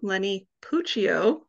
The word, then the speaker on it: Leni Puccio: We're on season two, and I reached out to Leni Puccio. Did I pronounce that correctly? Perfect.